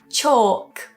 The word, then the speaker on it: chalk: cough calm calm chalk chalk. So do be aware that that ak spelling isn't always an o sound but here we have chaw or chalk.